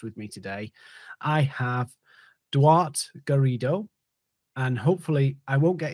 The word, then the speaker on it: Duarte Garrido: a special guest with me today i have dwart garrido and hopefully i won't get in trouble for